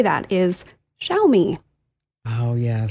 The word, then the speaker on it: Xiaomi: it's a tough one it's x i a o m i and that's just not something we have in English it's a Chinese word so I I'll give you a pass on that sh me I'll remember that